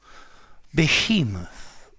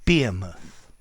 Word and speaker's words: behemoth: Behemoth or Behemoth. Both pronunciations are valid.